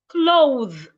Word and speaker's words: clothe: There's also a difference between cloth and clothe. Cloth, noun. Clothe, verb. Please pronounce the word along with me wherever you are.